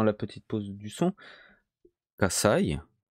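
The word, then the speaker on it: 火災: Kasai. Kasai. Le sa est un peu plus fort. Pourquoi? Là, avec cet exemple concret, Kasai, ça veut dire incendie.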